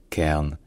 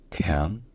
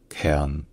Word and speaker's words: cairn: Donc ce n'est pas vraiment cairn, mais plutôt cairn, K. Et ensuite, évidemment, c'est la prononciation du R, qui soit en anglais américain est R, soit en anglais britannique, qui est plus proche d'une sorte de diphtongue du son A. Donc ça devient cairn.